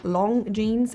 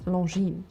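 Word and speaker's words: Longines: The G as well as the S are silent in the name. So instead of saying long jeans or long, it's long.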